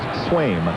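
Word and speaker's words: Sveum: S-V-E-U-M, pronounced Swaim.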